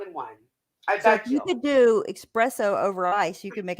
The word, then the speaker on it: espresso: how do you say it is espresso sorry not expresso oh wow stephanie and